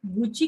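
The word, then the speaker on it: 口: इस दोनों में ये जो गुची की काजी आई है कोरेवा कुची का बेस कुची व माउथ बेस माउथ अभी ये कॉम्बिनेशन के साथ आई है इसलिए कुची का जो प्रोनाउंसिएशन या फिर कुची का जो रीडिंग है वो कुची ना रह के गुची हो गया है।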